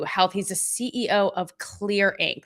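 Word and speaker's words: Xlear: he's a CEO of Clear, Inc., that's spelled X, L E A R, and this is streaming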